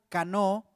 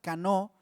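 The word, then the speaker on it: קנוא: de una palabra hebrea canó con acento en la o y con sed de casa canó que significa gran enojo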